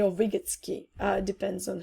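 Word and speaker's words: Vygotsky: which is based on the ideas of left vigotsky or vigotsky uh depends on how you pronounce it so I believe that learning leads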